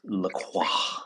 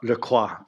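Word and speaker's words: LaCroix: you doing I'm perfectly Dandy I'm having a lacroy because we're talking about Silicon Valley it's pronounced laqua laqua by the way I um you know the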